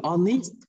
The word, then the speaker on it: honest: Các bạn lưu ý từ honest là một âm câm, nên thành ra là chúng ta phải dùng cái chữ H này là một âm câm, tức là chúng ta không phát âm, mà chúng ta phát âm bắt đầu từ honest, được không ạ?